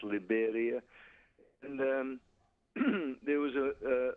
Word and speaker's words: Liberia: It's the same spelling as Liberia, only here it's pronounced Liberia.